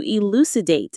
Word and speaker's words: elucidate: You elucidate these core concepts until they are crystal clear. Let's define that word elucidate. Elucidate. Stress on the L syllable. Elucidate.